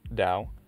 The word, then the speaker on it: Dao: Dao is still pronounced Dao, as though it had a D, even when it's written with T, as in Wade-Giles.